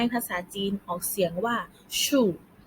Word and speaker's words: 树: คะ ต้น ไม้ ภาษา จีน ของ เสียง ว่า ชู่ ชู่ เรา ออก เสียง สิ คะ ดี เยี่ยม